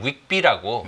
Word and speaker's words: WGBI: 마찬가지로 WGBI는 빌비라고 외국인들이 이렇게 발행을 해요.